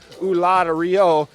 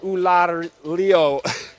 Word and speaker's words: Ulloa: I'm sorry, I've been mispronouncing it up until now. I've been saying Ulloa. It's Ulloa.